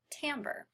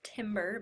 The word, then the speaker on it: timbre: be talking about the sixth element of music Tambor so the word looks like it's pronounced timbre but it's actually Tambor side note there and